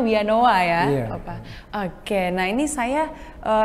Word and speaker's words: Villanova: ya pak ya dari villa Nova itu tulisannya Tapi bacanya we anoa ya oke nah Ini